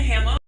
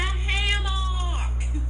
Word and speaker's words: hammock: a nap in a hammer Conor stop picking on my Annunciation it's a hammock who taught you that's how you say it now wisconsinite it's called a hammock honey then why is